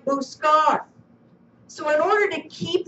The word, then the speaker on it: buscar: Like we have buscar in this lesson. B-U-S-C-A-R. Buscar. This is a hard C because it comes before the letter A, right?